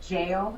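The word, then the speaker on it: gaol: thanks she runs the it's spelled goal but they say it jail it was the Parramatta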